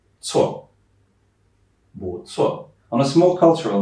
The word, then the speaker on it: 错: And the last thing, when you see a C at the beginning, it's a ts, like a ts sound. 错, 不错.